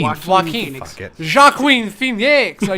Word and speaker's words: Joaquin: Joaquin. Joaquin. Fuck it. Joaquin Phoenix. Are you French all of a sudden? Fucking don't put letters in your name. You're not going to save that J for someone else.